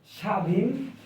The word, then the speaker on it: স্বাধীন: হবে বাংলা ব্যাকরণ বলে শব্দের শুরুতে বফলা থাকলে বফলা এর উচ্চারণ হয় না অর্থাৎ আপনি যখন একটি